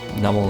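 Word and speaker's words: Numel: anyway numl right here numl is one of those Pokemon that I miss pronounced the name of for many many years um it's meant to be a combination of numb and camel because num is somehow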